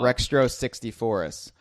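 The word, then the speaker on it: Rextro Sixtyfourus: Rextro 64us.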